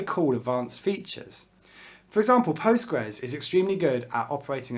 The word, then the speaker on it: Postgres: Postgres is written like this, PostgreSQL, but most people will pronounce this word Postgres.